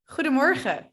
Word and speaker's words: goedemorgen: It sounds like goedemorgen. Goedemorgen. So there's two sounds in there.